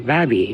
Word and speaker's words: Baby: younger version of me I've always heard it pronounced baby point I was doing some reading and apparently uh the person that's named after I think James babby pronunciation is actually babby not baby so technically I suppose